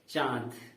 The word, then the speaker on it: चाँद: अब इसे पढ़ा जाएगा चांद।